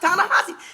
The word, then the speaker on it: Ta-Nehisi: Well, no, it's pronounced Ta-Nehisi.